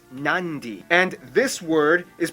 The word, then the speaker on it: Nadi: make the M sound therefore the town of Nadi is actually pronounced nandi and this word is